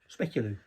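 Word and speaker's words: speculoos: festive tart lattice top speculos isn't that a speculu yeah spelled with double O so it's not an ooh it's an O So specular I'm still waiting for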